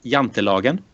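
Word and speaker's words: Jantelagen: you were close yeah you were close uh it's it's yant Logan so um very very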